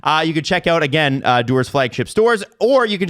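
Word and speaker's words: Duer: Not to be confused with Connor. Doer. But it's spelled D-U-E-R, right?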